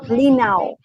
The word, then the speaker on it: Linau: Ernst, the name of the lake is Lake Linau. Yeah, it's spelled L-I-N-O-W, Linau.